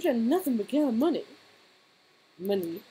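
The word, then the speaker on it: Munny: Money. It's spelled M-U-N-N-Y.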